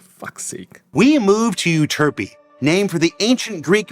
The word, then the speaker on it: Euterpe: It's Euterpe. Euterpe. If you want to pronounce it, Euterpe. Yeah, Jared was right this time. But also it's Efterpe. Efterpe, if you're Greek.